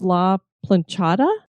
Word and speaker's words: La Planchada: Is this La Planchada?